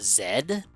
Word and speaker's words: Z: name is z but he's actually it's actually pronounced Zed ah yes because this is a a British